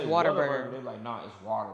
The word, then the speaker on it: Whataburger: say it's it's pronounced it's spelled with a burger but they say it's water burger burger like it's water